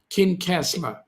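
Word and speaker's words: Kincasslagh: Daniel odonnell oh yeah okay how do you pronounce it kin castler okay thanks mate appreciate that thanks for the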